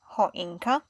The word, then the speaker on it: choinka: H, like choinka.